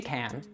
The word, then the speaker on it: can: So for example, he can't come to the party, but she can. Finally, if you see this word coming at the end of a sentence, you would also pronounce it fully.